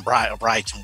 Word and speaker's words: Brereton: Por ejemplo, por esto tuvimos que llamar también a Ben Brereton, o Brighton, como dicen que es la pronunciación, y a Robbie Robinson,